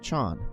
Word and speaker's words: Chan: land chin Thai haen and Chan pronounced Zen in Japanese we will discuss these